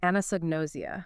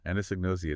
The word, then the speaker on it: anosognosia: And the document uses this term, I'm trying to say it right, anosognosia. Yeah, anosognosia.